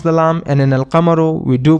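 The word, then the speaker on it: القمر: In ashamsu we do not pronounce the lam and in al kamaru we do pronounce the lamb.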